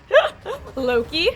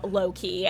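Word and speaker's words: LowKey: Loki.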